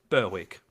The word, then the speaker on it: Berwick: Yeah, we have a suburb here called Berwick, but it's spelled Berwick. Berwick.